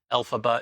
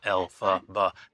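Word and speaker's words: Elphaba: Alphaba is the first three syllables of LFrank Bomb. Alphaba.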